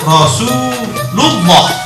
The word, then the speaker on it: Rasulullah: u Allah pakai u Saya memberi contoh misalnya di sini lafal rasulu nah ini dah setelah dah maka lafal Allah sehingga bacanya Rasulullah terbaca atau baca fathah